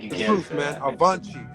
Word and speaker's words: avante: Avante. It's how you say it in Portuguese.